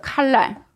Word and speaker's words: 칼랄: 반대로 우리가 하나님을 찬양하지 못하면 우리가 어떻게 되냐면 우리가 칼랄하게 돼요. 칼랄. 자, 발음이 정확하지는 않은데 우리는 그 뜻을 생각해 볼게요. 할랄의 반대는 이거는 좀 더 된 소리를 내야 돼요.